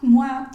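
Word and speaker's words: moi: acordando no entonces bueno todas estas palabras que tienen o y la i juntas se van a pronunciar ua mua tua todo lo que tenga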